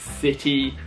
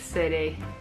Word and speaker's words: city: And another one, like Alisa said, a classic is with city. Americans say it a bit more like City. We say city. That T is quite clear.